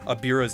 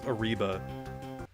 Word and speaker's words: Aira: It's funny how you keep announcing uh pronouncing Aira's name as Aribba. Did I? I I just I think I just forgot and I just like I think I just forgot that his name was Aira.